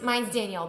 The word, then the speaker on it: Danielle: Mine's Danielle, but it's spelled with a E-L-L-E.